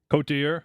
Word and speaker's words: Côte d'Ivoire: Côte d'Ivoire.